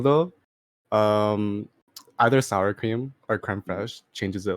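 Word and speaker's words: crème fraîche: Dude, for real though, either sour cream or creme fraiche changes it like crazy.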